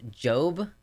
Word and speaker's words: Job: The Old Testament book Job is pronounced Job.